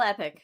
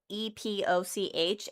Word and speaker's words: epoch: Which when I initially was reading epic is spelled EPOCH, and in my brain, I always pronounced it as epoch until I heard somebody say it, and I was like, oh.